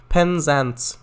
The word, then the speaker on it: Penzance: How it's spelled, pretty much. Yeah. Penzance.